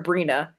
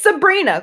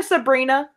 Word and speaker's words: Sabrina: when anyone calls her Brina it's Sabrina call her Sabrina Sabrina it is three syllables at least it's not